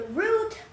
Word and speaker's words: route: So route can be pronounced two different ways. The first way is route. Pronounce it with me. Route. Route. Route. Route can also be the word route. Route rhymes with shout.